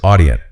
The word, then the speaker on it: audient: But the pronunciation has a little variation. You can start with a hard sound, like awesome.